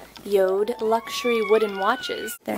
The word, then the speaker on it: Jord: on YouTube or Instagram before it looks like jordu is actually pronounced yoda yoda luxury wooden watches they're not paying me any